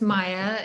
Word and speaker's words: Maja: My name is Maya. It's spelled with a J, but it's pronounced like a Y.